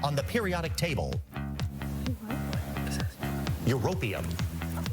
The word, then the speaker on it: Europium: It's used in smoke detectors and was given its continental name as it is under Euporium on the periodic table. Europium. Say it right, host guy.